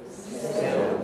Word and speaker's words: still: So if you say still, everybody, still, and you pronounce it as English people do, then you'll have velarization on that L. That's what dark means in this context.